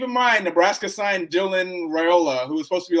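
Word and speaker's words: Raiola: mind Nebraska signed Dylan Rola who was supposed to be like the number one quarterback in the country pronounced ravioli ravioli so I I think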